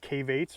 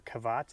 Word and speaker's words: cavates: all along here uh some of them are called cavates or kavats I've heard it pronounced both ways which are kind of